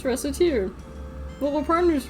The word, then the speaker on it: Recettear: Recettear, huh? Recettear. Mispronounced it even slightly, and... so, I had to look this up. She's actually referencing racketeering?